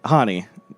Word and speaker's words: Hani: And then my sister's name is Hani which is uh Swedish for Hannah. So it's like Han Han Han. How do people say it though? Honey, it's like honey.